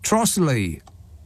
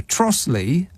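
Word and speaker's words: Trottiscliffe: Kent there's a village called trotus Cliff it's pronounced trotle says that message how is that possible it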